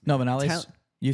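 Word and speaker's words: Viñales: No, Vinales. You said it right. Vinales.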